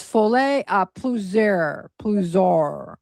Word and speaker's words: folie à plusieurs: And it's folie à plusieurs. I listened to it to pronounce for this video, but it's plusieurs.